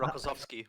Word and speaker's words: Rokossovsky: I can't pronounce that. Rokossovsky.